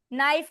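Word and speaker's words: knife: नाइफ के एन आई एफ ई नाइफ। Okay? जैसे छुरी होती है नाइफ। लेकिन उसमें के बाद एन आया है। एन आ गया है तो के साइलेंट है।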